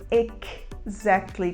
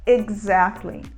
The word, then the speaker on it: exactly: a palavra exactly exatamente a gente não fala exactly com um som de c mas a gente usa um som de g o mesmo g de golf Glide Ground a gente fala eg exactly exactly e o uso da